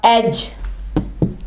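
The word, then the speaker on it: edge: इसके अलावा एज, किनारे को कहते हैं एज। यहां भी देख लें, डी आवाज नहीं दे रहा, एज।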